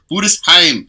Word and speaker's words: Budesheim: Everyone says Budesheim. Budesheim. That's how you say his name.